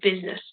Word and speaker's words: business: we need it to be there so it's business jewelry we don't hear this key here if